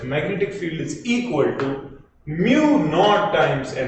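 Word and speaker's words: μ: where is m m mu mu mu you you yeah you pronounce this as Mu yeah and you write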